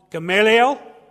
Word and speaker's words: Gamaliel: of now I think I've been saying his name wrong, Gamaliel, I think is how you say his name properly.